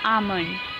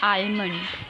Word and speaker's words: almond: Now the word is almond. Its correct pronunciation is almond. It is not almond. It was too late in the year for the almond blossom.